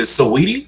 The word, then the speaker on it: Saweetie: Is it Saweetie? How Sweetie, I say her name? sweetie, Sweetie. sweetie. Okay. Because I'm very phonetic, so I'm like Saweetie. Got it. So I said I'm old. I say it like that.